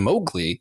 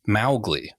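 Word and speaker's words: Mowgli: at the film specifically because they kept saying mowgly and it should be pronounced mly so technically the correct pronunciation is not the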